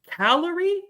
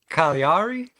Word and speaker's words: Cagliari: Ernesto Caracata versus Nicole Calorie. Is that right, boys? Oh, give me the pronunciation if I'm wrong. Give me that. Give me that. Cagliari? So it's Ernesto Caracate and Nicole Cagliari.